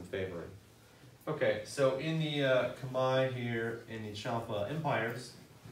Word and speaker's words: Khmer: Yeah, we say Khmer because we don't know, but apparently it's pronounced Khmer. So, the Khmer Empire, as well as the Champa Empire.